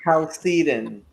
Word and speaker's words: Chalcedon: I can't I don't get know that how to name pronounce right now. Chalcedon.